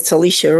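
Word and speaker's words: Tulisha: My name is Telicia. It's spelled T U L I S H A.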